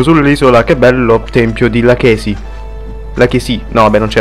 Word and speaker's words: Lachesi: Che bello tempio di Lachesi. Lachesi. No, vabbè, non c'è l'accento, quindi Lachesi.